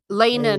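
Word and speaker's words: Laena: I was talking about Liana, not Liana. Lena, not Liana, but hey, that would have been good too.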